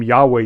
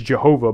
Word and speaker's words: Yahweh: Yahweh is used and you're probably thinking well Yahweh starts with a y but it was German Scholars who initially uh used that term and they pronounce uh the J as if it was a y uh it has been mistranslated in the past as Jehovah because of a misreading uh of the the the Hebrew notation system uh because